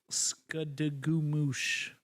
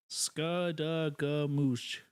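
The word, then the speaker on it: Skadegamutc: It is pronounced Skadagoomoosh. Skadagoomoosh.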